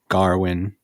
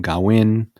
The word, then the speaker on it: Gawain: So in this movie, Dev Patel plays Gawain. Some people call him Garwin. Some people call him Gawain.